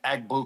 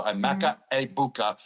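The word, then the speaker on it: Emeka Egbuka: I'm gonna go with I've been saying Egg Bua the whole time I was on Fox for the first two weeks, but now everyone told me the G is silent. So, a Mecha Abukah.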